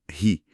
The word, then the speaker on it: hurry: Ensinam a pronúncia como ri. E a dica explícita é fazer o R igual ao R caipira, do interior de São Paulo.